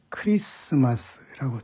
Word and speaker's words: Christmas: 그것을 영어로 들어와서 크리스토스가 이제 크라이스트가 됐고, 마스라는 말이 합쳐서 크라이스트마스라고 해서 발음이 크리스마스라고 트 발음이 묵음이 돼서 된 것 아닙니까?